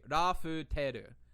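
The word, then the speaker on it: ラフテル: He wrote the katakana correctly. Rafuteru. That's how it's pronounced.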